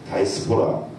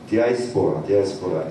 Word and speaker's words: 디아스포라: 그 이제 다이스포라라고 하면 발음이 정확한 디아스포라 이산이죠.